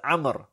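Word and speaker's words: عمرو: Well, that waw shows us, denotes to us, tells us that this is not Umar, but this is Amr. So we know how to pronounce it. This waw is not pronounced, but by the presence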